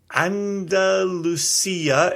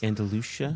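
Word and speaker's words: Andalusia: McCarthy in Oregon mhm Andalucia in Texas Andalucia Boulder uh so I I go with the European pronunciation but we can agree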